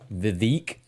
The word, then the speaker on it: Vivek: Vivek. Rhymes with cake.